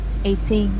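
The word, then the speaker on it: eighteen: Again 80 the first syllable 18 the second syllable right.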